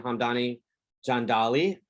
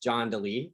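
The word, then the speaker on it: Hamdani Jandali: of you this is the 2019 uh chromosome hamdani john dolly uh we've also heard it pronounced john dele but we like to like the sound of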